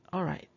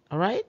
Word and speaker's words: alright: Nah, ini huruf L-nya tidak usah diucapkan ya.